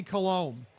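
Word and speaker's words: Coulombe: Pronounced Danny Colombe.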